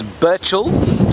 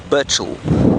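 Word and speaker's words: Burchell: It's Burchil. B U R C H E L L. Burchil.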